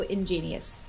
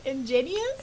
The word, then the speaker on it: ingenious: lore was just so ingenious bloopers can I say that word ingenus oh in so it's genius ingenus ingenius yeah ingenious yeah ingenius in three syllables ingenus ingenius okay okay